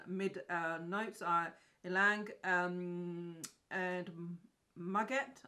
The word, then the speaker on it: muguet: notes are ylang and muguet. I think it is muguet. I'm going to try and change it and say that it's actually French. Muguet. Maybe not, but that's what you're getting.